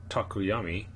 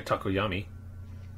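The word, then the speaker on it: Tokoyami: But it could be Todoroki and Takuyami. That's how you say his name, right? Yeah, Takuyami.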